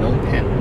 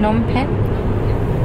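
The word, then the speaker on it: Phnom Penh: If it's PHNOM, PHN. PHNOM, PENH. Nom. PHNOM. PHNOM. Nom. And then PENH. Pen. Nom pen. Nom pen?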